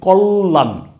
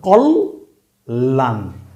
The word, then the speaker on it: কল্যাণ: এই জফলার কারণে আপনি দেখেন ল বর্ণটা ডাবল উচ্চারণ হইছে। আমরা যদি সঠিক উচ্চারণ করি আমরা বলি কল্যাণ। আচ্ছা সেভাবেই বুঝি। কল্লা হিসেবে যদি আপনি বুঝেন তাহলে কি হয়? কল লান। কল লান। তার মানে ল কয়বার উচ্চারণ হইছে? দুইবার উচ্চারণ হইছে।